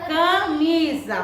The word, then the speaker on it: camisa: Camisa. Muito bem. Camisa é uma palavra que tem som de quê? De Z. Mas a sua escrita é com S.